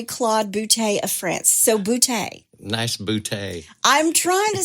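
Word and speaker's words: Boutte: GNA say it I also saw where some pronounce it boot okay but it's named for Andre Claude boute of France so boute nice bout I'm trying to say all of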